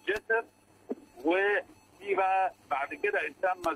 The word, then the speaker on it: جسر: مثلا ناخدوا مثال، تمثال الملك جسر، والجسر هذا هو الذي نسميه الآن نحن جوزر، لكن هو في التسمية الهيروغليفية جسر، يعني هو علشان إيه ننطق اسمه الهيروغليفي مظبوط يبقى جسر.